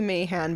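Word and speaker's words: Mahan: sure he's pronounce it man it might be Mayhan but I'm pretty sure it's man m-a-h-a-n all right so we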